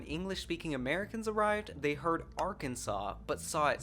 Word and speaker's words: Arkansas: officially declared its name Arkansas, preserving both the French spelling and pronunciation.